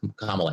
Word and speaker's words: Kamala: Kamala Harris, sorry, I keep mispronouncing your name. Kamala Harris.